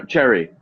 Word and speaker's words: Che'ree: I'm so bad with pronouncing Che'ree. Yeah, no, Cherry.